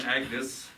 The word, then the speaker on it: Agnes: Oh, what is the reason for this interruption, Agnes? Oh, it's pronounced Agnes.